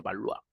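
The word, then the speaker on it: Valois: los baloa los balois escribe balois se pronuncia baloa Qué hizo él legaliza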